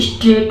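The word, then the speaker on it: straight: मैं बता दूं कि स्ट्रेट में आप देखेंगे कि जीएच टी के पहले है वो साइलेंट है उसको कभी नहीं पढ़ा जाता है लेकिन लिखा जाता है तो स्ट्रेट अ बैक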